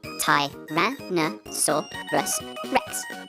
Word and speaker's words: Tyrannosaurus Rex: Tyrannosaurus Rex.